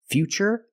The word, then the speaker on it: future: words what's the pronunciation what's the pronunciation of T that's right it's ch because we see t r e we pronounce the T as CH and we see t r i in futuristic again the t is pronounced with the CH sound so the first word